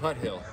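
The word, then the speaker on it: Tuthill: It should be pronounced Tuttle. Tuttle. But it's Tut Hill.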